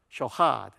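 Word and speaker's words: שֹׁחַד: 있으면 에 ch 발음입니다 그래서 좀 강한 카 발음이 되죠 캬 돼 아 이거 발음하기가 쉽지 않아요 제가 히브리인 이 아니기 때문에요 쇼 하앗 역에 거의 카 이렇게 발음으로 된다는 거죠 효 하 쇼카 여기 5 발음입니다 쇼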